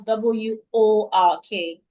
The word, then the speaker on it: work: Now try to pronounce W-O-R-K. Walk. Work. Work. Walk. Walk. It's not all. All is what you have in W-A-L-K. W-O-R-K. Watch my mouth. Work. Walk.